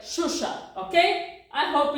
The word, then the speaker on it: Xuxa: don't know if okay so it's you you you speak like shusha okay I hope it's